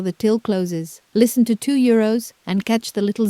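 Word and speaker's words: deux euros: 2 euros On paper that S at the end is silent, but in front of a vowel it wakes up as a Z.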